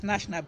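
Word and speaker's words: gnashnab: Elohor Nashnab, yes, Nashnab, but it's spelled with a G before the Nash.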